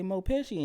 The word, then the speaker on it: Meaux: And then when I was at the Comethru Tulsa thing, I was like, you can say Mo. He was like, you want me to say Meaux Pesci?